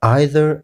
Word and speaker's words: either: نو د پوښتنې جواب دا سو چې د دا لغتونو دواړو تلفظ صحیح دی، که چیرې موږ neither وایو که neither، او که چیرې موږ either وایو که either، دواړه صحیح دی.